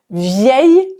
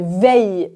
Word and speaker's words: veille: Et la prononciation, ce n'est pas vieille comme l'adjectif, mais veille, veille. La veille, ye comme dans famille, fauteuil.